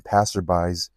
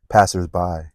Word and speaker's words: passers-by: corner at night, disturbing passerbys, he took quick and decisive action. Passers-by. That's how you say it, passers-by.